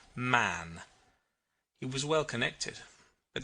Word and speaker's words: Mahon: white long beard and his name was mahon but he insisted that it should be pronounced man he was well connected